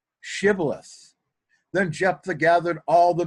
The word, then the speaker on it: Shibboleth: When he said no, they said to him, "Then say Shibboleth." And he said, Sibboleth, for he could not pronounce it right.